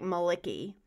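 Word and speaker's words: Malaki: variation of Malachi but it's spelled mal I see KY so it sounds like Maliki what about you Mel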